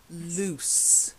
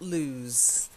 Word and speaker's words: loose: is very important it's a common mistake loose not lose so to lose is